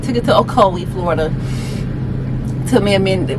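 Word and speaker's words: Ocoee: c o e e Co there we go okoi took it to okoi Florida took me a minut register took to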